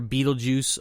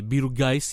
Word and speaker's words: Beetlejuice: But anyways, the titular character, Beetlejuice, or as some people say, Beetlegeist, even though it's pronounced juice, that's just a funny way of doing it.